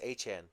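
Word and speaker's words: Etienne: Apparently, it's not Travis ETN. It's Travis Han. He finally corrected us how to say it.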